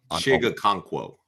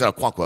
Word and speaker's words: Okonkwo: Chiga Conquo. Oh, it's Okonkwo.